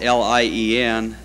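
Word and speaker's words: Lein: here on the program my name is spelled Li en the correct spelling of it is le I n there is the name line that is spelled Li en I pronounce mine lien I am lien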